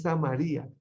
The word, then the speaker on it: Samaria: Porque es que en griego y en hebreo se tiende a poner la tilde en la última sílaba o en la penúltima. ¿Sí? Dice, es Samaria.